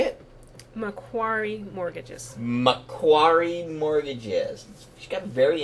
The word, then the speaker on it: Macquarie: Macquarie Mortgages.